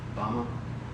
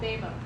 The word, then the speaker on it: Bema: Bama? What's it called? Bema. Bema! Of course I misinterpreted or mispronounced it.